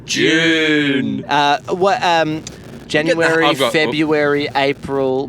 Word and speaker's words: Dune: It's a diphthong, Mark. I say Dune. And that's incorrect. That's what the Americans say. Dune. June. Dune. Dune. Dune. It's Dune. No, Dune. I like saying Dune. Yeah. June. And the correct way to say it is June.